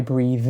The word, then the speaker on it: breath: I breathe in and I breathe out. Breath is the noun. For this, we use the unvoiced TH. Breath. We breathe in, but we take a breath.